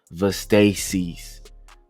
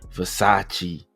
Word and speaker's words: Versace: I don't even know how to pronounce these uh past those Vasacasis or you know supposed to be Versace.